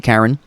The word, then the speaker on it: Charon: everyone wants to be Karen. So... or Charon, or however you want to pronounce it.